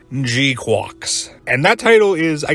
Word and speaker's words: GQuuuuuuX: called Gundam and yes this is how it's pronounced gqu and that title is I guess the first